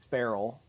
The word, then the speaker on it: Farrell: is, the letter, Farrell. I always say, my middle name is Farrell. I always say, like Will Ferrell, but spelled like Colin Farrell.